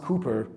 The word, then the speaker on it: Cowper: So you got Wordsworth, you've got sort of Cowper Road, pronounced Cooper, apparently, but I'll call it Cowper, because otherwise some of you might find it annoying.